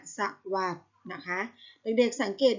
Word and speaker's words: สวัสดิ์: สรุป อ่าน ว่า สลบ สวัสดิ์ อ่าน ว่า สะ หวัด นะ คะ ไม่ ได้